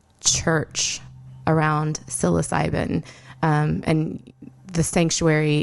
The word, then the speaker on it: Psanctuary: around psilocybin, and the Sanctuary, it's spelled with the silent P, just like psilocybin is spelled with the silent P.